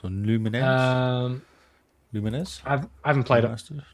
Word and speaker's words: Lumines: I guess that's pronounced Lumens or Lumines.